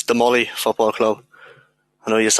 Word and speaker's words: Damolly: Yeah, it's Damolly Football Club. I know you had a bit of trouble pronouncing it the last couple of weeks there, but I'll keep you right.